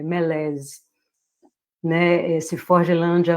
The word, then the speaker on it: malaise: até procurei engraçado porque é um termo francês mas ele existe no inglês intacto né e com a mesma pronúncia se você escuta a gente fala alguma coisa pronúncia francesa né e engraçado se você